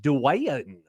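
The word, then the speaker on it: Dwyane: Do you know how Dwayne Wade is spelled? I do know. D-W-Y-A-N-E. Dwayne.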